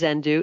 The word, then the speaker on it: Xendoo: you Doris so the name of our company as you said is zenu it's spelled with an X so xen d as